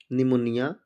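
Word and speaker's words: pneumonia: Silent रहेगा। जैसे निमोनिया, न्यूमेटिक्स।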